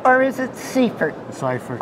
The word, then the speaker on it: Seifert: and he called himself Seaford but his name is really ciphered and he went to the Netherlands to school and he learned how to say his name anyway most important thing